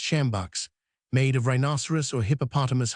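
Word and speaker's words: sjambok: From the beams hung joints of meat, masses of dried flesh, and various kinds of game, large whips termed shambach pronounced shambach made of rhinoceros or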